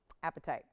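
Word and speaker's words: apatite: that this is different it's spelled APA t-i-t-e appetite it's out of Madagascar and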